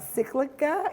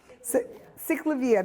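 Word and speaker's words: CicLAvia: I was just talking to somebody about cyclica. Am I saying it right? The bicycle. Cyclavia, thank you.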